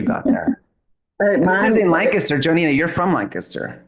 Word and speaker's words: Lancaster: Lancaster. Okay. Yeah. So I say it right. You do. Lancaster.